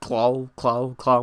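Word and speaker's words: Klaue: But it's cool that they are making it very important that this character, who I believe is called Claw, but it's spelled different, it's like K-L-A-U, Claw, whatever, who did have a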